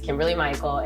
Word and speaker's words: Kimberlee-Mykel: My name is Kimberlee-Mykel, and it's spelled like super funky. I have 2 first names, so Kimberlee-Mykel is hyphenated. Kimberlee is my aunt, and Michael is my father.